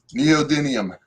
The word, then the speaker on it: neodymium: Neodymium, Okay.